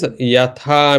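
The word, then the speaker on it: यथा: like we say yadha raja, tadha praja, That is wrong. The is it wrong? pronunciation is wrong. Pronunciation is wrong. So it is Okay. yatha. Okay. So it should be yatha raja tatha praja.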